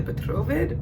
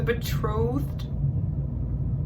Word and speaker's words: betrothed: I say the petrovid, but that's not how you pronounce it. It's the betrothed.